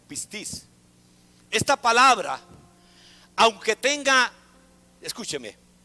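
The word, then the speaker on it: πίστις: terminamos fidelidad diga conmigo fidelidad en griego se pronuncia con tilde el upper y piscis o pistis esta palabra aunque tenga escúcheme esta palabra también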